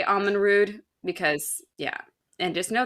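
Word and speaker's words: Amon Rûdh: hold on hold on isn't it in like Irish words that DH is a different pronunciation than yes I mean who says DH nobody right it's actually pronounced supposed to be pronounced th so not it's not Alan rude it's Alan Ruth but it honestly sounds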